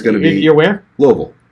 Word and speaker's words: Louisville: going to be aware louisville that's how you say it is not looseville it's it's like two syllables yeah somewhere from there